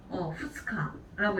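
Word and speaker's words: 二日: 후츠카라고 읽게 되죠. 자, 그럼 우리 3일은 뭐라고 하죠? 밑가라고 읽게 되죠.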